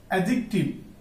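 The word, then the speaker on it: adjective: বিচারক এরপর দেখব আমরা অ্যাডজেক্টিভ এখানে ডি সাইলেন্ট এরপর দেখব আমরা অ্যাডজাস্ট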